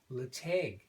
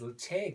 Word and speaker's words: Ledaig: 1972, however, the Tobermory distillery reopened as Latag. And Alan, if you're watching, got it right this time. Okay, opened as Latag, which is spelled Ledaig.